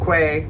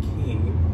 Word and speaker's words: Quay: qu a why but they pronounce it key oh but they're Australian